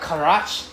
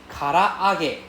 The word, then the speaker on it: karaage: okay it's not karage it's not karage it's karaage karaage so the R need to go up karaage yeah karaage so there's double A inside karaage so you need to pronounce two A separately karaage yeah the karage